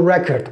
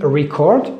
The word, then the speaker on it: record: can listen direct your record okay just be careful about this if you use if you use it as a verb you say record if you use it as a noun we say record record has another meaning